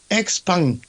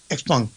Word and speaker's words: XPeng: And then XPeng. That's how you pronounce it, I'm told. XPeng.